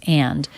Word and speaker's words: and: uh and uh okay it's not that common to hear the d in the word and but she does do it especially you'll hear people doing that when they're thinking of what to say next then they're more likely to fully pronounce and and the d links right into the next sound which is the uh as in butter sound and uh and uh